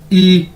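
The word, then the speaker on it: 一: हैं ई वाई आई ई pronounce कैसे करेंगे जिस तरह इंग्लिश का ई होता है ई मतलब क्या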